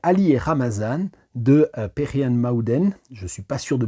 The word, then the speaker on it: Mağden: Il y a un G, ça s'écrit Magden avec un petit je sais même pas comment ça s'appelle, l'espèce de petite lunule inversée là qu'il y a sur le G. Je crois que ça se prononce Aoua.